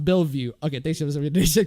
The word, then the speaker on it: Bellevue: Also, it's pronounced Bellevue.